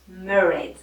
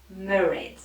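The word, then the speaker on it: Mairéad: Et il se prononce Mairead. Mairead.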